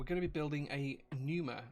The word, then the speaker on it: Pneuma: be building a numa i think it's pronounced numero it's got a silent p at the beginning i don't know if it's numa or penumer or pen numer but i'm going to call it the numer um and that's